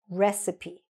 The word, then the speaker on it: recipe: It lists the ingredients, it lists the processes or the methods that you follow, but the word is pronounced recipe.